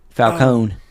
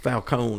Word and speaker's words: Falcone: Falcone. Yeah, she says that because Tommy pronounces it Falcon. Yeah. And she says it's actually pronounced Falcone or Falcone or something like that.